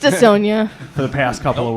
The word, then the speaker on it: Dissona: Morgan was pronouncing it wrong. It's Dissona.